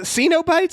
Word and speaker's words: Cenobites: weird like they this the xenobites that's how that's pronounced they are they are